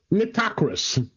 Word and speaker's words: Nitocris: And there was some curiosities on the bent pyramid and maybe Queen Nitocris. Nitocris. This is definitely Bob and Tim. Both are bad at pronunciation. That's okay. I'm just gently correcting.